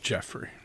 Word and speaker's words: Joffrey: nothing please tell me it's spelled like Joffrey but it can be pronounced Jeffrey yeah yeah sorry just